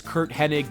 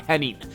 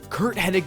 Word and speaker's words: Curt Hennig: His name was Curt Hennig, not Henning. Curt Hennig made his WWE debut back in January 1982 and later was known as Mr.